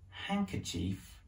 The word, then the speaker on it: handkerchief: w from this handkerchief that's handkerchief with a silent d to iron out is